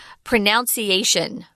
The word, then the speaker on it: pronunciation: I hear a lot of people in Taiwan say pronunciation. I've even heard an American say that. That's so wrong, guys. I know it looks like you're saying pronounce is the verb, right?